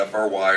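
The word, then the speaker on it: Frey: Some people spell it F-R-Y or F-R-Y-E. It's spelled F-R-E-Y, but pronounced Fry.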